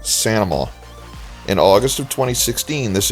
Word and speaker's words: St. Amant: Okay, I don't think the people here actually talk like that, but locally the name is pronounced something like Sanama.